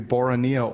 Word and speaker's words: Boronia: really appreciate you uh the correct pronunciation is bora nia i got another tweet did you yes which says both are correct it can either be boronia or borania depending on which accent right he thinks because